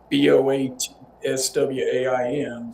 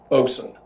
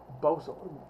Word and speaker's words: boatswain: Boatswain Mate it's spelled b o a t s w a i n so you would think Boatswain, but it's actually pronounced b o s. B o s what? Bosun. Bosun.